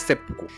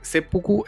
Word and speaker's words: seppuku: lectura de los idiogramas porque Sepuku es la lectura on y omi o del origen o más cercano a lo que se pronunciaba en China y la otra es el kun yomi, que es la la ya como realmente lo hacían los japoneses.